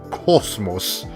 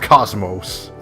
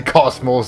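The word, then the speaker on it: KOS-MOS: I know, that is how you're technically supposed to pronounce her name. It's Cosmos, not Cosmos. But if you want to say Cosmos, that's fine.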